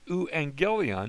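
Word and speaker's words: εὐαγγέλιον: Here's a diphthong in the first part of this word, and we're going to pronounce it euangelion. Notice the U, that's our diphthong, just the first two letters.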